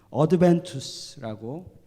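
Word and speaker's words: adventus: 그리고 라틴어로는 어드벤투스라고 발음을 합니다.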